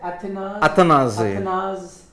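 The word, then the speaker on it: Athanaze: Athanas. Athanas. I heard Darren Ganga say it. So if a local West Indian is saying it, then I'm going to believe that.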